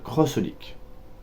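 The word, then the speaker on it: xxxHOLiC: crois que celle qui est au dessus c'est crossolique donc ça s'écrit X X Holic mais ça se prononce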